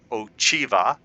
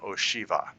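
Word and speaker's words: Ocheva: But this person I called Oiva because it was O C H E V A and she said I am Oshiva.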